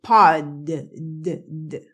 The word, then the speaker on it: pod: La una termina en T y yo la exploté, pot. Y la otra termina en D y yo la pronuncié, pod. ¿Ok? Pot, pod. Pero si están en una conversación, ellos no pronuncian pot, no explotan la T, pot, a no ser que la frase termine en pot.